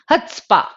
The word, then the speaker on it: chutzpah: Not the way you did and then laughed about it. It's pronounced as chutzpah, right?